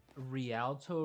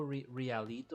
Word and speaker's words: Rialto: It's like um Rialto Realito or something like that. I don't know how to pronounce it.